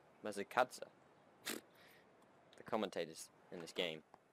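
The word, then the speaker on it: Masakadza: Matakanda. That's not how you pronounce it though. It's Matakatsa.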